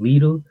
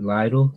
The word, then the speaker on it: Lidl: So I remember once we were in the local grocery store here called Lidl, Lidl. You Americans and Canadians would pronounce it Lidl, probably.